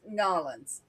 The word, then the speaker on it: New Orleans: It's Nolans. yeah, and I'm ashamed to admit we always called it New Orleans, but now I'm trying to get used to calling it Nolans.